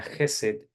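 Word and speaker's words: חסד: hebreo que se dice o se se se pronuncia jesed que tiene que ver con el amor de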